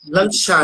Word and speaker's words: Lancashire: Como é que se pronuncia? Lancashire. Lancashire.